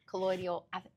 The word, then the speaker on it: colloidal: Colloidal. Colloidal. Guys, we don't know. I say Who's that? How to colloidal.